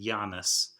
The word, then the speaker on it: Janus: are named after well i guess you pronounce it giannis um it was a